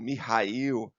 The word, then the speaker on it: Mikhail: vocês que era o Mikhail kobach alguns pronunciam como mihail né mas eu produci o mikil gobar assim que eu aprendi né Em cada um producia do seu jeito bom perestroica a perestroica